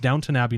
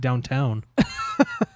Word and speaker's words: Downton Abbey: I know that it's pronounced Downton Abbey, not downtown.